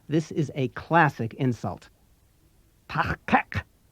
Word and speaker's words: Tahkak: There's a new sound at both the beginning and end of the second syllable, kak. Be careful. This is not the Federation standard K sound. You make it like a K, but as you did